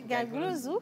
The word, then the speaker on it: Gaglozou: C'est mieux prononcé Gaglozou.